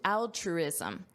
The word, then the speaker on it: altruism: To Ricard the answer comes down to altruism. Notice the pronunciation here. We have the word trueism. Put that together. Truisism. Truism. That's a truism. That's something that is true. And then you add al altruism.